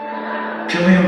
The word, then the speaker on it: Cillian: Cillian Murphy, not Silly Man Christopher Nolan guy.